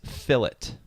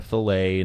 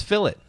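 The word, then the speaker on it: fillet: uh figure out that this is fill it it's a fill it uh not a filet nothing else so um if you're ever wondering how to say it it's phillip and i thank everyone that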